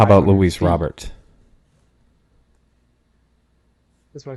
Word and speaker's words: Robert: How about Luis Robert? That's what I said. He said Robert.